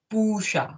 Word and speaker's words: पूषा: And again, try to emphasize more on pusha. Okay. So pu as it goes dirgha, give stress on the syllable pu.